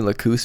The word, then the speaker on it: Lacus: or somewhere else but apparently lacoose might be the latin uh pronunciation so maybe it's more technically correct but man it sounds jarring when you're used to hearing lackis yeah it's like what